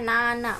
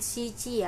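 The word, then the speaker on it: 七: Nah, jadi tadi lupa menjelaskan 7 di atas 10 itu bacanya nana, bukan shichi ya.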